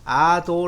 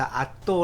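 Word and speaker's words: адуу: 진 것은 오라고 했습니다 그래서 아도 라고 하는데요 이 몽골인들은 그 볼을 강하게 이 발음합니다 그래서 아 또 라고 합니다 또 그래서 에 모든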